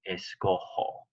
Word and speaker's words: escojo: Escogo doesn't match escoger, so it would be escojo. The J in Spanish is an H sound.